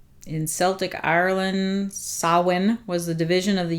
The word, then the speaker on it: Samhain: you can hear the way they say it's pronounced so in samhain sawin so looks like samhain pronounced sawin obviously i was completely off on that one